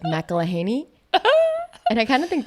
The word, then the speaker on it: McElheny: times I was like mahany and I kind of think that sounds good I will respond I think so my husband's family pronounces it Ma heny heny yeah I feel like